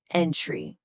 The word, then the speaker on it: entry: Here, the stress hits the first syllable, entry.